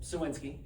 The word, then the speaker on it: Cywinski: How do you pronounce his last name, which is just Suwinski.